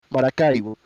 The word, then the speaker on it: Maracaibo: Sorry, I gotta switch from English to Spanish to pronounce it correctly. Maracaibo.